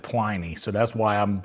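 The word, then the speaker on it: Pliny: do I say it my grandfather's middle name was p l i n y and he pronounced it plyy so that's why I'm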